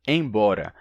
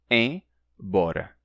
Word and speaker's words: embora: Por exemplo, se a gente pronunciar palavras como impossível e embora, separando a primeira sílaba do resto, fica assim, impossível, embora, e não impossível, embora. A gente não diria a primeira sílaba como im ou como em, e sim em, impossível, embora.